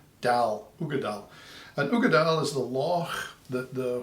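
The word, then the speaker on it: Uigeadail: can mispronounce them anyway the the way you pronounce this is an ugadile is the law that the whiskey comes from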